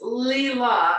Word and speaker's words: Lila: So Lilo, it's Leela, and then Stitch is just one syllable, and L is just one syllable.